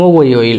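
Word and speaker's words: 목요일: তাহলে উচ্চারণ হবে মোগোইল, মোগোইল, মোগোইল, মোগোইল, মোগোইল মানে হচ্ছে বৃহস্পতিবার, মোগোইল।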